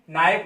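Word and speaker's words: knife: किसी शब्द में के आता है तो के साइलेंट हो जाता है। तो देखिए सब में दिया हुआ है, नो पढ़ेंगे, नाइफ हो गया, not, knock, new, नॉन, नी, निकर्स, night.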